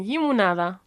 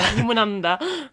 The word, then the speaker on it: limonada: Yeah, limonada. Limonand Yeah. You always put an N in there. Limonanda.